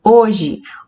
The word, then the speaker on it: hoje: nosso proferimos as palavras hoje hora homem e hábito nós não pronunciamos a letra h então são todos os